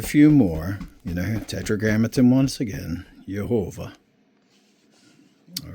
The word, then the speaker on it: Yehovah: Yehovah. All right? Yehovah. Now we don't need to get hung up on this. Now in English they pronounce it Jehovah, which is fine.